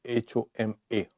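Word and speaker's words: Huma: So, but then it is written, spelt now H-U-M-A, pronounced H-O-M-A, homa bird.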